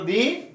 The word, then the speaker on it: the: जिन शब्दों का उच्चारण व्यंजन से हो उनको बोलेंगे द से शुरू, जिन शब्दों का उच्चारण स्वर से हो उनको बोलेंगे दी।